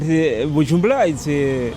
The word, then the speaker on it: Bujumbura: So Gabriel, we're here in Bujumbura. Yeah. Am I saying it right? Yeah. Yeah, I've been really trying to learn because it's difficult. No, but Bujumbura is good.